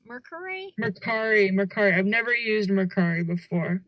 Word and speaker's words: Mercari: Is that how it's pronounced? Mercari? Mercari.